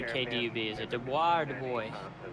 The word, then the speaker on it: Dubois: If you say Dubois, you're going to get beat up in that bar. I'm telling you. Du Bois it is. Thank you. Although when you get across the border into Idaho, there is a Dubois. It's spelled exactly the same way, but they know how to pronounce it. We don't.